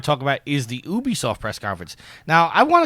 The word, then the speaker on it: Ubisoft: you say it sir it stands for ubiquitous software so it's Ubisoft ubiquitous software said Ubisoft you say UB it's not